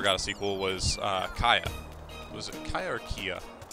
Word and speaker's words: Kya: a sequel was uh kaya it was a kaiakia i think it's pronounced kaya kya female protagonist it's about